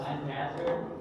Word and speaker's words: Lancaster: My fun fact is that it's actually pronounced Lancaster.